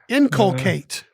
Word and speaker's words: inculcate: we have the word inculcate i-n-c-u-l-c-a-t-e inculcate three syllables it can be a